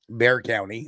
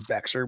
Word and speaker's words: Bexar: so earlier you know you had mentioned that I was mispronouncing Bear County I was pronouncing it as Becker which is completely wrong and somehow I knew